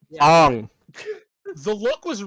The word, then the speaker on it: Aang: to pronounce Aang's name right. Ong.